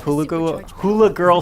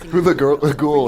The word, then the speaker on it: Hula Ghoul: You have your exploration, you have your puzzle solving, and you have Hula Girl Stella. That would have been funnier if I could say her name right. Hula Ghoul is the...